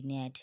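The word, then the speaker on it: gnat: এস আই জি এন কিন্তু জি এর কোন উচ্চারণ হবে না ডিজাইন হবে ঠিক আছে ন্যাট হবে জি এন এটি ন্যাট rain R ই আই জি N rain resign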